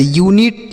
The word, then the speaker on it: unit: तो अगर यू के साथ एक वावेल लिखा हो, मतलब यू के बाद एक अक्षर छोड़ने के बाद लिखा हो, तब हम यू का उच्चारण यू करते हैं। ठीक है, जैसे यूनिट, यूनियन, यूनिक, युगांडा।